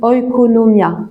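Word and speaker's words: oikonomia: qu'on traduit par dispensation c'est un mot grec qui se qui se prononce oconomia qui a donné le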